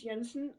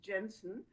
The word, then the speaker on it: Jensen: My name is Liz Jensen, sometimes pronounced Jensen.